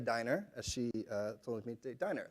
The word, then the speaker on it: Diner: Next to him is Hasia Diner, as she told me, Diner, like the restaurant.